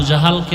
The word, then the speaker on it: জাহল: এইমাত্র তো বললাম আবু জাহল, জেহেল না জাহাল, নাম হলো ইমাম গজালি।